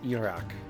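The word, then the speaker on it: Ijirok: I think you're supposed to pronounce it as Iraq. Like the J is almost an L, but it's almost like the J is silent in a way. It's just like it's just like if you just said Iraq.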